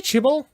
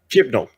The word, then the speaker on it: Chibnall: Do you say Chibol? I suppose that's how you say it, right? We better get this right for the future. There's an N. Okay. Chimlo. Okay. Chibnall.